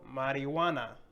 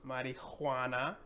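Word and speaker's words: marihuana: But we have to make that connection in our brain that this is silent and that we have to say this all together. So marijuana. No, it's marijuana or marijuana, pero we're going to say marijuana, marijuana.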